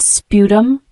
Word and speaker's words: sputum: from twisting or pulling the word sputum spu tuu m is a noun pronounced like this spum sputum is a mixture of